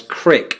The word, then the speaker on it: creek: Some Midwesterners will pronounce creek as crick when talking about a brook or a small stream.